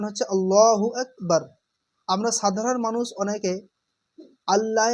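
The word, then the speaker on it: الله أكبر: এই শব্দটা এ শব্দটা আসল উচ্চারণ হচ্ছে আল্লাহু আকবার।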